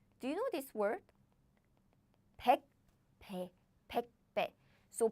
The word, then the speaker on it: 백배: So I don't say 백배. I say 백배, 백배. I pronounce this pronunciation as in 배, 배 strongly because there is an air blocking sound.